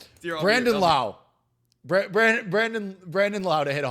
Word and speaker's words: Lowe: He's Brandon Low because it's Lau. It's Lau, right? Because it was Josh Lowe and Brandon Lau. Dude, it's spelled the same, and when I made